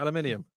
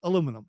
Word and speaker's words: aluminium: Aluminium. It's aluminum.